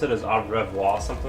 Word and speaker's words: au revoir: I think it was au revoir. Like the way people told me to pronounce it is au revoir, something like that.